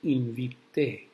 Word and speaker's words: invité: Now if you remove the CION and add an E, it becomes invité. That E is pronounced E, E.